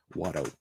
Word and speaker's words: Watto: And as a Southerner, as someone from Arkansas, pronouncing those two T's hurts really, really bad. Watto.